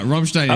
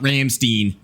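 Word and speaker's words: Rammstein: Uh, Ramstein is how you say is how you say the name of the band. It's not It's not Ramstein.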